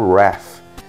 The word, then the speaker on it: Rath: E aqui ficou Rat também, só que lá nos Estados Unidos o nome dele se pronuncia como Wrath. E aqui, é, vamos dizer que erroneamente ele é chamado de Rat, né?